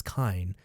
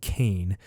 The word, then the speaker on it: Kain: more information on kaine he pronounced it as kind i kept saying kane but yeah so apparently